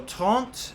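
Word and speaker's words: trente: kind of start similarly so trunt means 30. um and then tes is 13. so it's they're about half the same word so it's something tough to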